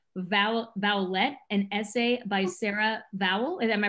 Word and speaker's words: Vowell: You produced and directed Vowlette, an essay by Sarah Vowell. Am I pronouncing that correctly?